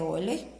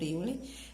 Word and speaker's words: Euler: em relação de Euler E na verdade a pronúncia olho Mas aí a maioria das pessoas com conhece por Yuri F + b =